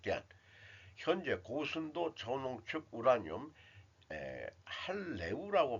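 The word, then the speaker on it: HALEU: 현재 고순도 저농축 우라늄 할레우라고 발음해야 되겠네요.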